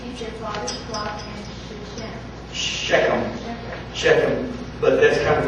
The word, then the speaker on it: Shechem: And the Hebrew language, they never had phlegm build up because of their accent, the way they speak. So they would probably pronounce that something like Shechem. They had to spit after that.